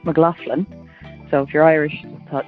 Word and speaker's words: McLaughlin: And to tell you that in here your surname would be pronounced McLaughlin, not McLaughlin.